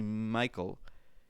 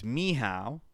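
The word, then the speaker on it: Michał: Actually, I wrote down the phonetic way to pronounce this. It's not actually Michael. It's Miha, apparently.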